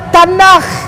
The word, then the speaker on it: Tanakh: Ya, dibacanya Tanakh.